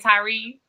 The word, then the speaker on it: Tyree: Is this how you pronounce it, right? Tyree? Yes, ma'am. Yes.